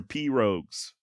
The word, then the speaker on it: pirogue: couple of canoes or pirogues. Please do not email me saying that I'm pronouncing pirogue incorrectly, alright? I'm saying it the way that Hank Williams Sr. says it in Jambalaya on the Bayou.